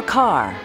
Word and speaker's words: Kerr: Mayer declared, "Deborah Kerr. It rhymes with star."